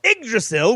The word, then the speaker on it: Yggdrasil: Yggdrasil, which is how you pronounce it, is an immense mythical ash tree that connects the 9 worlds in Norse cosmology. The branches of Yggdrasil extend far into the heavens, and the tree